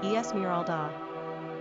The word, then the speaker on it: Esmeralda: Pronunciation, Esmeralda.